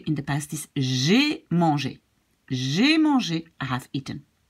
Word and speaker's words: mangé: so we pronounce e, in the past it will be written like e with an accent, but pronounced in the same way, manger. And this is also pronounced like manger. It's the same pronunciation.